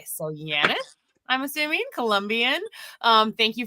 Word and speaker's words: Janet: This is like, she said, we pronounce her name like Janet, but with a Y. So Janet, I'm assuming Colombian.